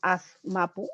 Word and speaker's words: Azmapu: De allí que yo voy jugando con las formas de escritura y por eso les presento aquí el término Azmapu o Azmapu. Se pronuncia de la misma manera.